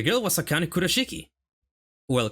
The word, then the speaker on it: Kurashiki: The girl was a kind of Kurashiki. Well, Kurashiki if I if I pronounce it in Japanese way.